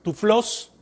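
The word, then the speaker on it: τυφλός: Ciegos, viene del griego tuflos, así, T-U-F-L-O-S, y acento en la O.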